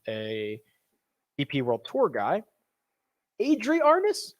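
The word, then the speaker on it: Adri Arnaus: ep world tour guy adrie arnis i believe is how he pronounces it so don't look at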